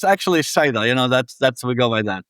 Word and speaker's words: Saida: me if I get this wrong, but it's Seda Lahuna in Lebanon. Is that correct? Yes, close. Say it. I'm going to let you pronounce that one correctly. No, I mean, it's actually Saida.